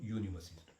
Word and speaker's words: university: It starts with U, but we pronounce it as ya. So, university student.